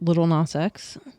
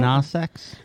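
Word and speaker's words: Lil Nas X: Like Little Nas X. Call me by your name. What about I don't- Nah Sex?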